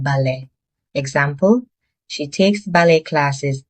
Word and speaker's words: ballet: This word comes from French. So the t at the end is silent. is pronounced ballet, not ballet.